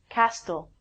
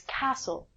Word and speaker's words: castle: Then we have a really, really common word that I hear a lot of people say, castle. It's not castl, it's castle.